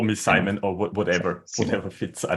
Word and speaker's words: Simon: Um, well, in German, uh, you would say Simon also I think in Dutch since I live in Netherlands, also in Dutch, I think you would say Simon.